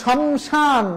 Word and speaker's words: শ্মশান: একটা চন্দ্রবিন্দু হবে যেমন শমশান না শমশান না শ্মশান কারণ তালব্য স প্রথম বর্ণ এই বর্ণের সাথে ম ফলা রয়েছে প্রথম বর্ণে ম ফলা থাকলে উচ্চারণ হয় না কিন্তু যেহেতু এটা নাসিক্য